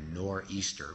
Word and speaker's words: nor'easter: And as he's writing this poem, what we call in New England a nor'easter, which is a corrupt English pronunciation for northeaster, a northeastern storm called a nor'easter sweeps into New England.